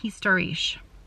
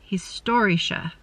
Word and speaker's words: historische: I was saying historisch. And I think that instead of there being 3 syllables, if I'm correct, there are 4 syllables. Historische. Historische. And the emphasis is on the store. Is that right?